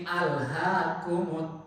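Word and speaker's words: ألهاكم: Alif lamnya alifam qamariah tapi kalau Alha itu kata kerja dibacanya harus bismillahirrahmanirrahimi alhaumut takatur salah kalau ada Ustaz baca Bismillahirrahmanirrahim milha Alif lamnya bukan Alif Lam Qariah atau Syamsiah itu kata kerja Alha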